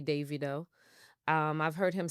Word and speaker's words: Davido: a Nigerian person told me his name is Davido you know but I've heard yeah it's Davido